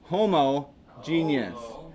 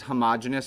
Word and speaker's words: homogeneous: see this homogeneous uh from time to time you'll see this pronounced as homogeneous to avoid that but I think it gets away from the root homo as a prefix